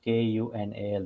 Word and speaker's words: Kunal: how how do I say it uh Kunal k u n a l that is Kunal Kunal okay Kunal apologies if I'm mispronouncing it Kunal so that's that's all right